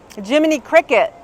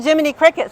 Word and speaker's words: Jiminy Cricket: We are the um Jiminy Cricut, right? We're in Disney. We're the Jiminy Cricket sitting on the shoulder of the of their Pinocchio.